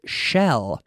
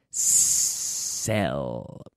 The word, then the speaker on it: sell: Digamos sell. No es shell, sino sell.